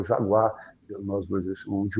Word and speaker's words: jaguá: É o Jaguar na língua ancestral lá dos do dos dos tupinambá, dos tamo aí pronuncia, que é o jaguá que nós dois chamos de onça.